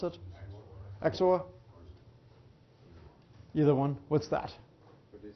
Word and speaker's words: XOR: you pronounce this actually is that how you pronounce it exor either one what's that this is one only